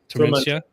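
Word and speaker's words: Tormenta: Is that how you pronounce that? Tormentia.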